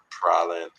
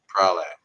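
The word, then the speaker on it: Praslin: Pralin, Prale. I'm always pronouncing it wrong because it's Prale because there's no the N.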